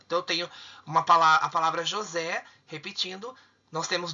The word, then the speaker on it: José: E qual é a mais forte? A última. A última sílaba. Então, você identificou a sílaba tônica? É uma oxítona. E vai acentuar? Lógico, por quê? Terminou em E. José, oxítona terminada em E.